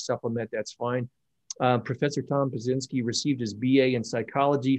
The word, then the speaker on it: Pyszczynski: event for this country, my guest is Tom Pyszczynski. Tom, am I pronouncing that correctly?